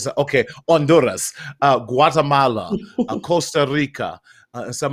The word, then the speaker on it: Honduras: They said probably the H is silent. Honduras. So, okay, Honduras, Guatemala, Costa Rica.